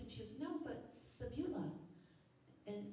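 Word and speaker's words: Cebula: go customize kiss and she goes no but Sabula and it's pronounced sabola in Polish and it means onion so kiss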